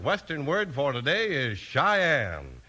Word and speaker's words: Cheyenne: Our second western word for today is Cheyenne. It's spelled C H E Y E N E, and it's pronounced Cheyenne. Today, Cheyenne's the name of